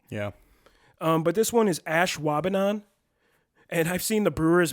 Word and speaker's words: Ashwaubenon: there's some really crazy ones you probably are pronouncing wrong currently yeah but this one is Ashwaubenon and I've seen the Brewers mess this one